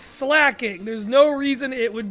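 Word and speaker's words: Slaking: It's cuz he slacks off and he's a king. It's not slaying, it's slacking.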